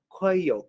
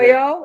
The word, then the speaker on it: Coelho: Coelho, is it spelled c o e l h o Okay, Coe Coelho. And I think it is Coelho.